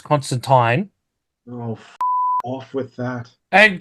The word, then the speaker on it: Constantine: because it's alen Mo it's not Constantine it's Constantine oh off with that